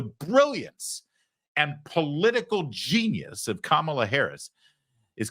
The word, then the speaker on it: Kamala: the hate campaign against kamla Harris has begun you will notice they purposefully pronounce her name wrong they say Kamala they do it all